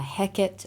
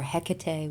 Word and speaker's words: Hecate: one's called okay so I know that there are at least two ways to pronounce this so I will say both a heckett or Hecate whichever pleases you uh hecate's protection so